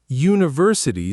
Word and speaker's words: university: University starts with the letter U, but you actually pronounce it you and you counts as a consonant sound, which is exactly why it takes a, not an.